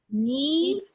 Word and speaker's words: needed: I'm gonna say it like, needed, ed, ended, decided. So in these 2 cases, I say the ed or the D like ed.